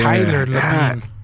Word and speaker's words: Labine: Taylor Libin. Labine. Fuck, that's not even how you spell it.